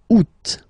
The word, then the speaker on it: août: And then here, two options, because, well, two options are acceptable in French. The first one, you don't pronounce the final T. Ou. Second one, you pronounce it août.